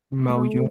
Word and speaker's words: maulló: Entonces, si yo digo maullo, yo maullo, ¿cierto? Estamos frente a un hiato acentual. Y si pronuncio maulló, estamos frente a una palabra aguda.